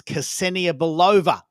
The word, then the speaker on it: Cassenia Bova: I'm I'm I'm sorry I haven't correctly pronounced your name, but I think it's Cassenia Bova. Is that Yes. That's I got it.